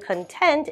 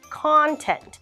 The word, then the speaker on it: content: this lesson is boring we have the same word but it is a different intonation and a different pronunciation you'll notice it's going like an arc the content of this lesson is boring which makes this version of the word a noun content that's all we have